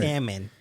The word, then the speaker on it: salmon: gonna be like it the l is silent you know what's so